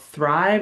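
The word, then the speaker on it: Thryv: There's also one that's kind of um, specified for home services businesses, which is called Thrive. It's spelled really weird. T H R Y V.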